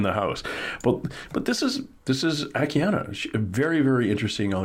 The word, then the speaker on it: Akiane: I say Akiane sometimes because there's an E on the end of it, but it's pronounced Akiane.